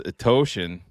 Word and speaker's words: Etoshin: Etoshin. Yes. It rhymes with lotion. Rhymes with lotion and devotion.